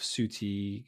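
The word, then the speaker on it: Ncuti: But now I feel like this combination of Suti, I think that's how you pronounce his name, Suti Gatwa and Suti Gatwa, Millie Gibson, I think have been brilliant.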